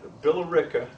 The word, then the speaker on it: Billerica: 1710 comes to the American colonies he's in billerica by pronouncing that Billerica Massachusetts where he marries because in 1723 his wife have a son also Richard Richard jr.